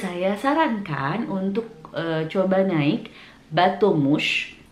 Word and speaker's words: bateau mouche: Tips buat yang gak punya banyak waktu ketika datang liburan ke Paris, saya sarankan untuk coba naik bateau mouche. Bateau mouche.